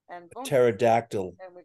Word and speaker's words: pterodactyl: he'll watch the video why can't you hear pterodactyl go to the bathroom listen we do because the p is silent that's correct just fin